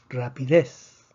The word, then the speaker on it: rapidez: el acento de excepción rapidez y rapidez rapidez tiene tres sílabas termina en zeta que no es ni en ese entonces pero decimos que la fuerza está en la última sílaba entonces la palabra rapidez no necesita acento aquí otra vez repetimos